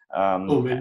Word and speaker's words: Omen: then there's the Omen, is that how you pronounce it? Omen, yes.